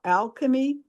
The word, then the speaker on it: Alkeme: They also have one called Alchemy Our Way. But it's spelled ALKEME instead of CHEMY.